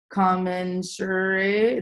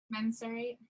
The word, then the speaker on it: commensurate: one that you need regular positive feedback and commensurate is how you say it commensurate commensurate thank you paycheck to stay motivated you'll